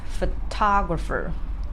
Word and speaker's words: photographer: word as an example this guy is produced as photographer photographer so certainly you will see ah the second syllable is stressed and others are not so what I mean